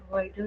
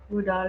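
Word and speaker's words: Widal: तो diagnostic test है, कैसे डायग्नोज करेंगे आप, इसका डायग्नोस्टिक टेस्ट हो जाएगा वाइडल टेस्ट, विडाल टेस्ट भी कई लोग, मतलब कई लोग टीचर्स बच्चे बोलते हैं, कोई बात नहीं, स्पेलिंग तो वही रहेगी, वाइडल टेस्ट, इसके थ्रू इसको चेक करते हैं।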